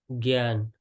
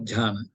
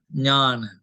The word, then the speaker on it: Jnana: Gyan, Gyan, not Jhana, Jnana. Gyan. Jnana. No, not Ja, Jnana, Jnana. Because Jnana. Jhana already there. It's Jnana. That's Jnana. why G-N-A-N-A, Jnana. You Basically, must differentiate.